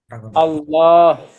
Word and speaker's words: আল্লাহ: আল্লাহ আল্লাহ আমরা এতক্ষণ পর্যন্ত জানলাম আল্লাহ শব্দের লামের পূর্বে জবর অথবা পেশ থাকলে তা হবে আল্লাহ আল্লাহ আল্লাহ এই যে